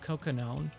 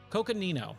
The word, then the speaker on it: Coconino: WWE Bay Sonoran Desert we've got most of cocone Coconino Coconino there we go all right now I can finally pronounce it all right long lost gold this